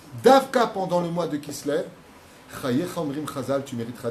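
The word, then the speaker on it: כסלו: au niveau de l'intonation, comment on écrit Kislev? Kaf, Samer, ouais, Lamed, Vav. Mais comment tu le prononces? Kislev. Kis, donne, lève.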